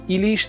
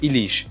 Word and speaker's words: ইলিশ: হতে পারে উচ্চারণ যেমন ইলিশ তিরি উচিত দেখুন এখানে কিন্তু প্রত্যেকটাই লেখা হয়েছে রস ইকার দিয়ে কিন্তু উচ্চারণটা কিন্তু দীর্ঘ হচ্ছে ইলিশ 30 দীর্ঘ উচিত ইলিশ 30 উচিত এরকম আবার